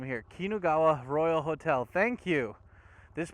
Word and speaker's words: Kinugawa: oh that's how you say the name here kinugawa royal hotel thank you this place was awesome